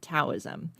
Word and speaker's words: Taoism: Perhaps the largest religious connection to this theory of medicine was Taoism, or some people pronounce it Taoism.